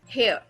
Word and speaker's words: hair: हेयर, हेयर नो, R is not pronounced, R, hair, air।